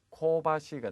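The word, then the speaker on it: 芳しい: 시즈나이니 실내에 자, 향기롭다라는 의미의 형용사가 되겠는데 정답은 B의 코바시가 되겠죠.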